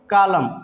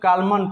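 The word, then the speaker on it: column: silent हो जाता है कलम ठीक है क्या पढ़ेंगे इसको कलम लेकिन कुछ लोग कलमान पढ़ने हैं जो की गलत शब्द है दम ठीक है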